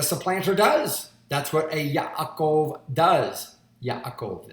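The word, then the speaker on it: יעקב: does that's what a Yaakov does yeah a cold it's the way you would pronounce Jacob in Hebrew yeah a goal yeah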